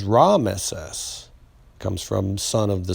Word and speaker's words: Ramesses: and uh rama see they used to call the pharaohs ramses but that was ramesses comes from son of